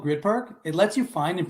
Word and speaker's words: Gryd Park: blocks from the arena the grid park app yep it's spelled gryd park and you know what